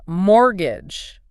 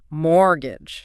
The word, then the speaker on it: mortgage: Then mortgage. Right. That's a specific type of loan. It's the one you use to buy a house or, property. And the source mentioned the T is silent, right? So mortgage.